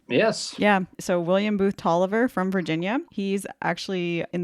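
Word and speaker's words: Taliaferro: oh when we were preparing for this I pronounced the name talifero and then I got the whole it's Tolliver so you basically hermion me you know the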